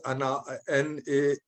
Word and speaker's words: Annales: It's written as Annales, but it's pronounced Annales. S is silent in French.